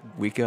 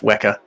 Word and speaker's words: Weka: know before we continue um Doc is this weaker weka it's pronounced weka oh okay just checking uh so you saw